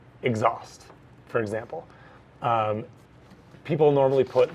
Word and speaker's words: exhaust: second so in that word exhaust it's normally pronounced exhaust the syllable is stressed fold them at the